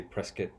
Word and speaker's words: Prescott: Prescott, or as they say here in Arizona, I mean it's spelled Prescott, but they say Prescott.